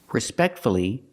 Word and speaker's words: respectfully: So with words like hopefully, respectfully, and successfully, we pronounce the U.